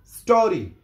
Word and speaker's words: স্টোরি: এখানে ই এর উচ্চারণটা হবে না, শুধু এস দিয়ে উচ্চারণ শুরু হবে। স্টোরি এবং ও এর উচ্চারণ পুরোপুরি হবে।